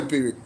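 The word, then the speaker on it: pyrrhic: That's how you spell pirick. P Y R R H I C. That's how you spell pirick. Yeah. Spell it wrong.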